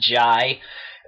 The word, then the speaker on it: Jai: Jai Courtney, yeah, it's pronounced Jai, plays Jack McClane, actually John Jr., but he's called Jack.